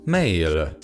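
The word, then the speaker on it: 매일: the korean writing system it is pronounced male of course my pronunciation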